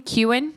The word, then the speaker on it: Keoghan: yeah we've got Barry how do you say his last name qan qan I guess I always said it Kegan like my name i' heard people pronounce it that way but then we just saw the funny I'm delicious Irish guy I love him uh pronounce it qan and I would trust